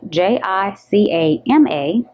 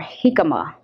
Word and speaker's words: jicama: I'm really interested in trying this is spelled ji c AMA is pronounced t comma or jicama okay jicama and this is actually an edible